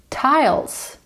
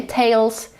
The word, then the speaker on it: tiles: Tiles, tiles. Zobaczcie, po ty jest i, a jak mówimy i po angielsku? I, dlatego tiles, nie tails, a tiles.